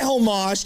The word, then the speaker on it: homage: I give you my homage to the audience. Homage, not homage. Let's call whatever the hell I want. The H is silent.